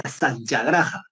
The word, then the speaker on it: satyagraha: Una cosa así que él lo que promulgaba, predicaba, por así decirlo, va a ser la satyagraha. S-A-Y, y al final va con H, ¿ya? Satyagraha. Bueno, así se escribe, ¿ya?